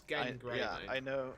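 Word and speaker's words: Genn Greymane: it's Gen, not Jen. Yes. Yes, I know how you pronounce it. It's Gen Greymane. Yeah, I know. Not Jen Greymane.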